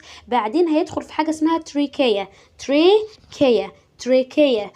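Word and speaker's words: trachea: هيدخل في حاجة اسمها تريكيا. تريكيا، ركز معايا في النطق، هي ليها نطق تاني بس احنا هنقول النطق ده عشان هو سهل.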